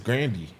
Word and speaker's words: Grande: you know ar Ariana Grande said her name is grandy who cares why the would she let everybody go that long calling her Grande who cares and ain't